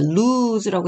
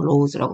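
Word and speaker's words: lose: 왜 과거에요 배웠죠 그렇죠 루즈라고 했죠 더 이상 로우즈라고 발음하는 사람 없어요 백팩을 잃어버렸어 그런데 어떤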